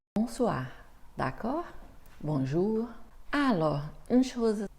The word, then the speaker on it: bonsoir: en reparlera plus tard l'accent tonique est presque toujours à la fin des mots en français donc ce n'est pas bonsoir non bonsoir d'accord bonjour alors une